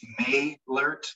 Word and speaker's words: Maylert: And just for the record, my last name is pronounced Maylert, like the month of May. Maylert. Okay, thank you. It looks goofy, but just think the month of May and then Lert on the end, Maylert.